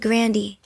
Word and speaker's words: Grande: pronounce ariana grande e my grandpa said grandi so should we all be saying grandi well my brother kind